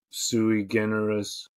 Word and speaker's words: sui generis: Beatty as Bulworth is, how do I pronounce that? Sui generis.